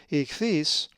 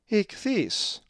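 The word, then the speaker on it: ἰχθύς: If you said ichthys, you are correct, as the accent is over the epsilon, ichthys.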